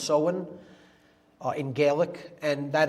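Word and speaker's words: Samhain: so when pronounced so when it looks like Sam Hayne in English but it's pronounced sohen uh in Gaelic and that is Halloween or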